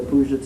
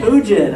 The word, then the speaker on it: Puget: How do you say it? Puget, all right. Puget. Puget? Puget, all right, thank you.